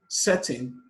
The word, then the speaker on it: setting: Question 42, center, people, setting, concern. Center, the stress is placed on the first syllable. People, the stress is placed on the first syllable. Setting, the stress is placed on the first syllable, but concern, the stress